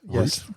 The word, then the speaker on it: Route: the canning stock route rout stock route Y Route I don't know I've never know it's r o u t e I always pronounce it rout either all yeah you